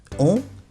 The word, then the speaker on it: ont: O la última t al final no se pronuncia y el o n es muy nasal.